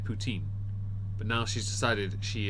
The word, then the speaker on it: poutine: eating uh poutine that she's called puts in because she's decided to be pretentious about the pronunciation and completely balls it up in the past she's outright said poutine but now she's decided